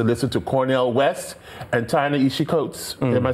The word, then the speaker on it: Ta-Nehisi Coates: He needs to listen to Cornel West and Ta-Nehisi Coates. Am I saying it correctly? Ta-Nehisi Coates, sure.